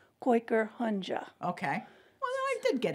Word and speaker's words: Kooikerhondje: I said Quaker. Well, it's supposed to be koi like the fish, Kooikerhondje.